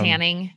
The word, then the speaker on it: Haning: It's how it's spelled. It's Haning. It's just Haning.